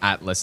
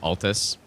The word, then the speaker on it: Altus: I guess maybe yeah saying Atlas instead of Altus then I guess I